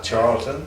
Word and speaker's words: Charleton: Yeah, Charleton.